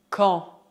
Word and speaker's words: quand: Prestez atenção à pronúncia. As letras Q e U fazem o som que. Que. A combinação A mais N forma o som nasal en. En. Quanto ao D final, ele é mudo.